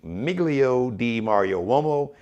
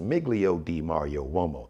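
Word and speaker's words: Migilio DiMario Uomo: on instagram it's actually miglio d mario lomo that's how it's pronounced miglio d mario romo it's an italian name but a spell m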